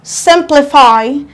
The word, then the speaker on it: simplify: back one two three we have simplify counter from the back one two three your seam received a lot of stress we have testify coming